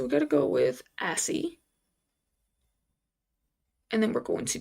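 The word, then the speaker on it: ASCII: I really hope I pronounced that correctly. I just because I don't want to look stupid. We're going to have to put this volume up and see how he pronounces it just in case cuz we ain't going out like that. This assie. They they call it asie.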